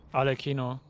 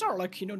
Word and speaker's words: Arlecchino: What, also, what is pronounced the name of the latest character for Pool? Arlecchino. Arlecchino. What? It is Arlecchino, then why people are pronouncing her differently?